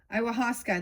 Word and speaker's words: ayahuasca: Ayahuasca, there we go.